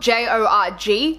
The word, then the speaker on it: Jorg: It's spelled J-O-R-G, and I know a lot of people pronounce it Jorg, Jorg, but for my sake I went with George.